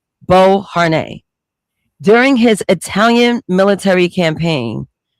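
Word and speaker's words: Beauharnais: That's how you pronounce the last name. Bo Har during his Italian military campaign.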